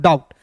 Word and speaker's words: doubt: उसी प्रकार देखिए डी का ड, ओ यू है तो इसका उच्चारण आउ के रूप में करेंगे, और बी का दोस्तों यहाँ पे साइलेंट हो गया है, और टी का ट, DOUBT को पढ़ेंगे दोस्तों डाउट।